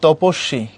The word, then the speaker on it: তপস্বী: যেমন তুমি এখানে পড়তেছো, লেখা আছে তপস্বী, কিন্তু তুমি যখন পড়বা তখন পড়তে হবে তপস্বী।